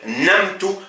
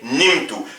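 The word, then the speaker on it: نمت: On va pas dire namtu, mais on va dire nimtu.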